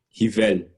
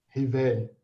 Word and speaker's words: Rivail: Rivel. Rivel. Ó, viu? Bacana. Nada como a pronúncia certa.